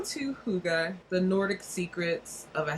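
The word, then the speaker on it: Hygge: The little book of, it says it's pronounced Huga, and that's another Danish secret thing, and then this is another, how did I say this was? Huga.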